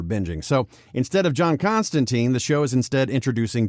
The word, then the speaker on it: Constantine: originally did also we are getting the actual pronunciation as constantine as originally intended that's taken my brain a while to get used to constantine constantine yeah changes always make fans nervous but